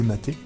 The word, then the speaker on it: MATE: classes inférieures vous pouvez utiliser mater atp qui se prononce mater est vraiment laid pour